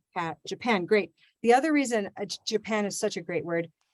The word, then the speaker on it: Japan: many reasons uh but because when we know where the stress is then we also know what happens to the other syllable japan japan yeah so we have this little j j in the in the beginning and then it becomes big yeah great it happens